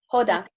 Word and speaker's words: Hoda: any other human being how do you say your name sorry hoda or hada i can't hear you so my name is hoda nice to meet you lovely